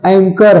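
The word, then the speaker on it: ache: एक, एचे नहीं है, एचे दर्द, एक होता है, एच साइलेंट है।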